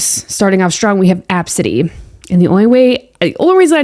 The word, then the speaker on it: ABCDE: Starting off strong, we have Absidy. And the only reason I know how to pronounce that is because I've seen this one before. It's literally spelled ABCDE, but people pronounce it Absidy.